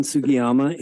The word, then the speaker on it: Sugiyama: So Sugiyama is divided into 2 kanji characters. Sugi means cedar tree and Yama means mountain. So I try to explain how to pronounce Japanese names because they can be tricky, but they're pretty simple. They actually pronounce like Italian, quite honestly.